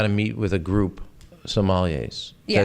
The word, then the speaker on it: sommeliers: Well, when you got to meet with a group sommeliers, did I say it right correctly?